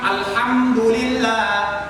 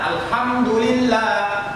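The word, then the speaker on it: الحمد لله: Alhamdulillah, Alhamdulillah. Kalau dia hati kecil, itu maknanya segala puji. Kalau kita rubah jadi hal besar, Alhamdulillah, Alhamdulillah, itu maknanya segala kejelekan, segala keburukan, segala caci maki untukmu wahai Allah Subhanahu wa ta'ala.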